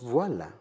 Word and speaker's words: Voyl: Mais aussi, ça se prononce « voile ».